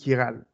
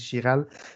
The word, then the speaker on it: chiral: Donc, faites attention, ce n'est pas chiral. Là. Souvent, il y en a qui disent chiral. C'est vraiment chiral. Donc, ça se prononce comme un K.